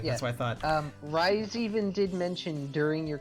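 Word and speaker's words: Raize: Is that how you pronounce it? Yeah, Rise.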